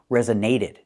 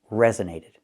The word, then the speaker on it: resonated: I cannot say resonated. It really resonated with me. We cannot do this. The primary stress is on the first syllable. Rez resonated. The story really resonated with me. Not resonated but resonated.